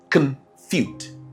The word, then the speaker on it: confute: Our word for the day, confute. Confute. I'm sure someone might be saying confute. No. Remember the schwa sound, neutral sound.